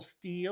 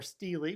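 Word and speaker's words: stele: There's actually a tower of abble steel or steelely. People pronounce it both ways actually apparently.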